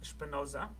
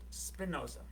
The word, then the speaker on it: Spinoza: So that was the original way of pronouncing it was Spinoza, but we now pronounce it Spinoza.